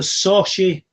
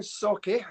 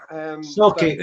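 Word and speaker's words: Sauchie: he'll tell me I've pronounced this wrong, the Sochi poltergeist. Yeah. It's pronounced Socky. Socky, yeah, I knew I'd get it wrong.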